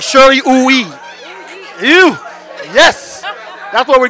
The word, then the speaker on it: Uyi: I am Shirley Uyi, U-Y-I, on Instagram. And it's Uyi? Uyi. Uyi. Yes. All right, Shirley Uyi.